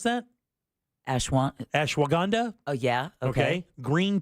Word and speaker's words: ashwagandha: right okay including ashanda is that how you pronounce that ashw ashwagandha oh yeah okay okay green tea extract oh